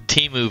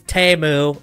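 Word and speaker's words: Temu: think it's my bad the Teemu version It's TAMU okay pronounce it right they had a whole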